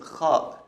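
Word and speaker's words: خاء: The next one is kha. Kha. It exists in many languages, but the kha sound is a little stronger in Arabic, a little stronger.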